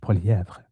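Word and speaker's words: Poilievre: career as a politician, balked at his name being pronounced in French, Poilièvre, who now definitely uses Poilièvre, particularly when he's in Quebec.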